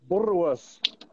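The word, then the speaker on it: boerewors: Is it Bulworth? Am I saying it right? Yeah, Bulworth. You got to roll it off. Bulworth. Yeah, that's better.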